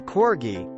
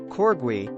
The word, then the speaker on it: corgi: breeds of Corgi the Corgi to be pronounced corbui and not Corgi is a small dog